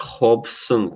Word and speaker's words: Robson: ciao yeah no actually they they pronounce r as Hage I believe in Portuguese so it's like Hobson concert I'm good to